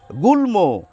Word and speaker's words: গুল্ম: গুল্ম, ল এবং ম দুটিরই উচ্চারণ রক্ষিত হয় এই সমস্ত শব্দের ক্ষেত্রে।